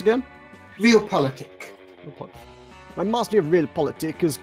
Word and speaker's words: realpolitik: So how is it pronounced again? Realpolitik.